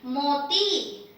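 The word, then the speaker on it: मोती: But be very careful with your pronunciation because the next one that I gave you, it sounds similar but it is not the same word. Here we have the retroflex T, meaning your tongue is inside when you say this.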